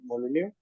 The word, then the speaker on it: Molineux: It's a French name, but you can't pronounce the X. So I think it's Molineux.